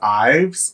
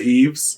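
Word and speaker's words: Yves: believe her name was IES or E is it EES I think it's eve just Eve okay you don't pronounce the S okay so Eve was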